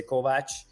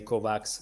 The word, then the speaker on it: Kovacs: as well you know it sounds like in Hungarian you say Kovach yeah um and uh you know when I try to say my name in English I do say Kovacs so don't worry about